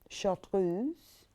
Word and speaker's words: chartreuse: you um this color gorgeous chartreuse you have to say it like that don't you chatrooms will you